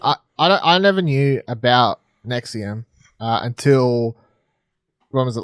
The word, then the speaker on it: NXIVM: Talk to us about Seduced inside the NXIVM cult, if that's how you pronounce Nexium. it. Oh. Nexium. Is that the... Nexium.